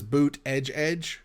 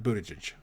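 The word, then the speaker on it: Buttigieg: think so well he on his profile it says boot edge edge and then when you hear him saying he's a Buddha Buddha judge and it's it's hard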